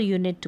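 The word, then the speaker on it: unit: यूनाइट और यूनिट को, अगर इसमें ई नहीं होता, ये जो यूनाइट है तो ये यूनिट बन जाता, यूनिट बन जाता। यूनिट का मतलब इकाई, तो ई लगने से इनका उच्चारण भी अलग हो गया है और इनके मतलब में भी फ़र्क हो गया है।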